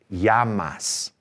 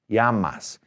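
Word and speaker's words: llamas: The double L sounds like Y in a sentence. So, this word right here, L L A M A S, is pronounced Yamas. Yamas, as in what's your name?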